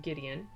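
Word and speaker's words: Gwydion: and then we have, I hope I'm saying this right because it's Welsh, I believe it's just pronounced like Gideon, and Pryderi.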